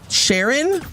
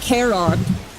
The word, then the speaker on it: Charon: Sharon? Did I say it wrong? It's Sharon? Oops. Yo! Oh, Charon.